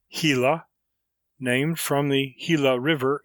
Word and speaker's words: Gila: The lizards are all perfectly harmless, except the sluggish Gila monster, pronounced Gila, named from the Gila River in Arizona, which